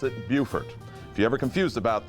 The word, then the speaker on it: Beaufort: man they pronounce it beaufort but we in south carolina pronounce it beaufort if you ever confused about that just remember we never sing america the boatiful we sing america the beautiful so beautiful buford by